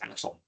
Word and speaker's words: ACSL: is done is with acsl or thei C specification language you might also hear this r as or pronounced as axle acsl is a first